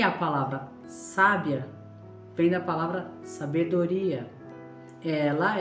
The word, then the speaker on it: sábia: Vou colocar na primeira vogal A. Ficaria sábia.